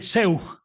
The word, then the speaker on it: Zeug: Se escribe Zeug, pero el fonema eu en alemán se pronuncia oi.